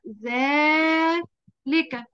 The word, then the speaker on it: ذلك: ذلك صح؟ ذلك نطقناها ايه؟ نطقناها ذلك. ايه الحرف اللي نطقناه؟ حرف الألف. كلمة التي. الألف اللي بعد ايوه الألف اللي بعد الذال.